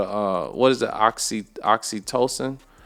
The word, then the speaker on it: oxytocin: the right way yeah I think it is oxytocin you not oxytoxin but because that's oxytocin it's oxytocin okay so let's see if